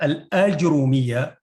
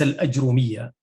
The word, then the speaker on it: الآجرومية: ولفت نظري ما يلي: هي الآجرومية وليس الأجرومية كما نطقها.